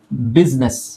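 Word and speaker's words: business: words ಅಲ್ಲಿ silent ಆಗಲ್ಲ ಇಲ್ನೋಡಿ ಬಿಸಿನೆಸ್ ಅಂತ ಹೇಳ್ತೀವಿ ಇಲ್ಲಿ ಐ ಅಕ್ಷರ ಅವಶ್ಯಕತೆ ಇಲ್ಲ ಬಿಸಿನೆಸ್ ಅಂತ ಹೇಳಲ್ಲ ಬಿಸಿನೆಸ್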